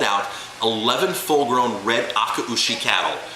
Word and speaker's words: Akaushi: 747 and hauled out 11 full grown red akaushi cattle it's it's pronounced akaushi they brought home 11 akaushi the jam there was a trade there was